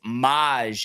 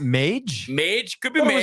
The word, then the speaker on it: Mage: Kentucky Derby you know I guess it's pronounced Maj ended up winning um that horse not Mage Mage could be amazed